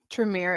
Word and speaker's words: Tremere: Tremere is how we would pronounce it. Tremere.